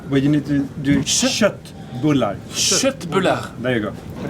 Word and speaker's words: köttbullar: So how do you pronounce this? I say köttbullar. Yeah, but you need to do köttbullar.